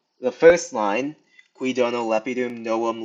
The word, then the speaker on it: lepidum: Uh lep i dum, we have two short. And then, the last syllable is followed by both an M over here and an N over here. So, it's followed by a double consonant, so that makes it long.